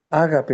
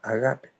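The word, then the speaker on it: ἀγάπη: Ágape dice no otro, no, pero en griego se lee agape.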